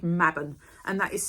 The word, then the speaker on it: Mabon: So the fall equinox is called Mabon, and that is spelled M-A-B-O-N.